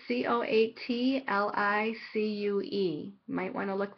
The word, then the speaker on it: Coatlicue: It says Kotlik. It's Coatlicue.